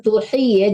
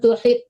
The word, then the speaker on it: تحيطوا: بها علما Oniati walam tuhi ya, jangan tuhid, nggak ada tasdid tonya, panjang hinya.